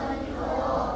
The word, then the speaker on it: มณโฑ: นาง มณโฑ นะ คะ ธ นาง มณโฑ ออก เสียง ได้ 2 แบบ คือ เสียง ท กับ เสียง ด มา ดู อัน แรก กัน ดี กว่า มา ดู คำ ที่ ออก เสียง ท คำ แรก อ่าน ว่า อะไร คะ มณโฑ มณโฑ มนโท อ่าน ว่า มณโฑ อ่าน ว่า มณ โท อ้า เขียน แบบ นี้ แต่ อ่าน แบบ นี้ เขียน ท นาง มณโฑ อ่าน ออก เสียง ทหาร อีก 1 รอบ มณ